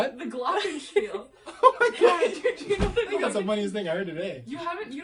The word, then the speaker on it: glockenspiel: And I don't call it the Glocken piano or whatever you guys call that shit. It's a glockenspiel. I didn't name it.